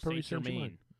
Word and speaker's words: Paris Saint-Germain: Paramount Plus, Lazio and Bayern Munich at 3, Paris Saint-Germain. I don't know how to say it correctly. No, you said it right. Paris Saint-Germain.